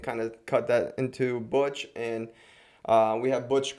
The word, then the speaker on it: BUCH: the future uh and it's buch not something else not the beer and it's uh pronounced butch uh we've had some had